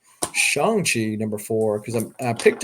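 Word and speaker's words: Shang-Chi: be from the newest shang chi or shang chi as i have now found out i have been pronunciating it pronouncing it wrong this whole time shanxi number four because i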